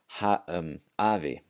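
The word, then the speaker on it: afi: And finally, generally the letter F will sound like the English V. So in scenarios where one of the rules that we just talked about doesn't apply, it will sound like the letter V.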